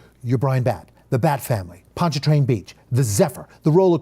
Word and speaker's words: Pontchartrain: you gave me that idea punch a truck Pontchartrain Beach Pontchartrain Beach and this as I introduced it as